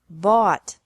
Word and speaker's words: bought: Buy, bought, bought. Catch, caught, caught. Fight, fought, fought. Seek, sought, sought. Teach, taught, taught. Think, thought, thought. Remember that the G is silent in these verbs.